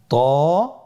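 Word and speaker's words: طاء: আপনারা স্ক্রিনে দেখতে পাচ্ছেন ত আলহামদুলিল্লাহ এই দুটি হরফও খুবই সহজ শুধুমাত্র আপনারা আপনাকে দেখেই আমার সাথে প্র্যাকটিস করলে আপনারা শিখতে পারবেন ত হফটি মোটা হরফ এটা উচ্চারণের সময় অবশ্যই মোটা করতে হবে এবং উচ্চারণ করার সময়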